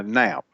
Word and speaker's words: Knap: Is it Knap or Canap? Uh, nap. Nap. Yes. Spelled with a K.